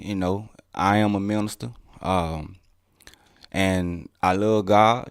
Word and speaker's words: Minista: the early part your first part of your name is minister right right but it's spelled different it's spelled m-i-n-i-s-t-a correct a minister correct and the last